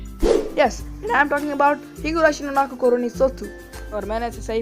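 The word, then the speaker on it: ひぐらしのなく頃に卒: यस, आई am talking about हिगुराशी नो नाको कोरोनी सोत्सु, और मैंने इसे सही प्रोनाउंस किया है।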